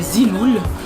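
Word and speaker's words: Zeelool: Alors, bon, les lunettes, je les ai, premièrement, la compagnie, elle s'appelle Ziloul, ça s'écrit Z-E-E-L-O-O-L, et c'est une compagnie que j'ai trouvée sur Instagram.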